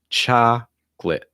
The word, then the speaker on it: chocolate: Chocolate, chocolate, chocolate, chocolate. In terms of the T sound, it's okay if you say chocolate, but often you'll hear native speakers pronounce it with a held T.